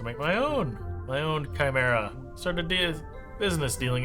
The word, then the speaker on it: Chimera: I don't know why I was pronouncing it Kami Kamra. It wasn't until I saw like the regular spelling of Chimera that I was like, "Oh, that's what they mean.